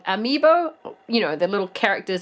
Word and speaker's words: amiibo: lot of the Nintendo ME ME over I always say it wrong amiibo you know the little